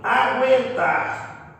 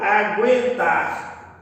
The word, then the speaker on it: aguentar: Mas percebam que, olha lá, eu pronunciando aguentar com trema, aguentar, ou aguentar sem o trema, percebam que a pronúncia ela não se alterou.